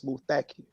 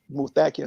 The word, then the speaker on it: Muthakir: And I said, Abdul Muthakir Muhammad, sir. The brothers, the accent is on the second syllable. It's Muthakir. So Muthakir.